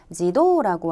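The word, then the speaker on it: 自動: 노라고 읽었죠. 해서 활동의 가츠도라든지 또는 자동의 지도라고 하는 자 이러한 한자들도 꼭 확인해 주셔야 되겠습니다.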